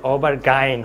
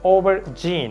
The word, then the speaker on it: aubergine: করা যাবে না সুতরাং the correct pronunciation of this word ওভার জিন ওকে ওভার জিন কিছুটা ঝয়ের মতো উচ্চারণ হবে ওভার জিন ওকে সো ইজ দেয়ার